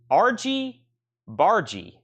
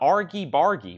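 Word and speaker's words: argy-bargy: mispronounce the slightest syllable RG bargie not Argy bargie which I think sounds better so 14.99 on squeeze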